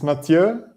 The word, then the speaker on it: Mathieu: Mateo? It's Mathieu, but in English it's often called Matthew. Mathieu, is that French? Yeah, it's a French name.